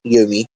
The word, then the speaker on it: Yomi: The pronunciation, Yomi, is not Chinese and is probably a name native to Japan.